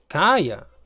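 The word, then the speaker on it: Kaeya: Kaya. Así se pronuncia.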